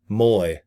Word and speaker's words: Mui: Then I invite people to watch the six-inute video hosted by it's Charles Moy. His last name is Mui, but it's pronounced Moy, like M O Y.